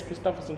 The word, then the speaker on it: Christopherson: I was telling her it's Christopherson, she said, wait, how you pronounce it?